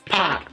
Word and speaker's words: PAC: It's Pac.